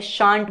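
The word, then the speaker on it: shan't: So shell plus not को हम शॉर्ट में क्या बोलेंगे, शांट बोलेंगे. शैलेंट नहीं बोलेंगे, शैल तो है यहाँ पे बट इनकी शॉर्ट फॉर्म क्या होते हैं, दिस इज कॉल्ड शांट.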